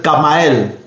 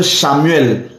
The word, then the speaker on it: Kamaël: Il y a l'archange Kamaël. Certains prononcent l'archange Chamuel. C'est le même nom, avec CH.